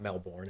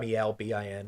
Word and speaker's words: Melbourne: And no, for the record, it's not Melbourne. It's Melbourne. Didn't know that. Melbin is basically how you're supposed to pronounce it.